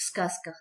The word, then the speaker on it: сказка: В сказках добро всегда побеждает зло, а пословица – это краткое, мудрое выражение. Ребята, а какие сказки и пословицы вы знаете? Произноси правильно. Сказка, сказка, сказка. Звук «з» произносится как «с».